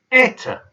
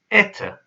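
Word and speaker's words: это: Eta. Notice the O is pronounced as an A because I haven't stressed it. Eta, which means this is.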